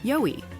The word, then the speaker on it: YOWIE: Just a boutique named after Australia's Sasquatch, YOWIE. It's pronounced Yowie, mate.